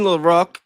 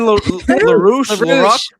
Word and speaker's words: LaRouche: All right, Lyndon LaRoque. You got to give me the stuff with the ones I can't pronounce. Damn it, Lyndon LaRouche.